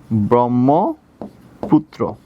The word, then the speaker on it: ব্রহ্মপুত্র: আচ্ছা, এবার আসি ব্রহ্মপুত্র, একটু খেয়াল করো, ব্রো কেন হবে, প্রথম বর্ণে কি আছে বাচ্চারা, খেয়াল করো, অ আছে, প্রথম বর্ণে কি আছে, এই জায়গায় অ, দ্বিতীয় বর্ণে কি আছে, হয়ম, তাহলে কি হয়ে যাবে, ব্রো।